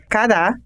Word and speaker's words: cará: da palavra por exemplo cara tem a primeira sílaba tônica e a segunda átona e cará tem a primeira sílaba átona e a segunda tônica cada palavra tem um